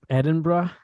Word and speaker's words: Edinburgh: Edinburgh?